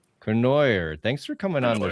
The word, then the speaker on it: Cournoyer: Kenoyer. Kenoyer.